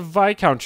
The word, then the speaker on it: viscount: That's the Viscount, you moron. The S is silent, did you forget?